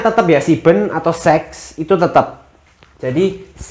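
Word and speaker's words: sieben: Nah, untuk yang kayak gini bacanya tetap ya siben atau seks itu tetap. Jadi 57 siben cih. Jadi bukan sip cih tapi siben.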